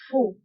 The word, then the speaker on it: faux: وانتبهوا بالنسبة لفو كنكتبوها بإكس في آخر الكلمة لكنها لا تنطق faux.